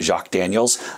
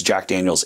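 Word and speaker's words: Jack Daniel's: school French, like myself, do not try to pronounce it Jacques Daniels.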